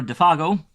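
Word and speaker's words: Défago: Good luck, manure defago, he added facitiously, giving the name its French pronunciation for once.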